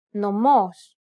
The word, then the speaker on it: νομός: This accent just indicates that you need to stress the syllable. That's it. Κάλος, καλός. Νόμος, νομός. Θέα, θεά. Notice how the accented syllables are emphasized? It's pronounced a little bit louder and longer than the surrounding syllables.